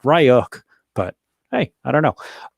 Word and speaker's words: Ryuk: ransomware uh which uh john richie at the aha told me is pronounced ryuk but hey i don't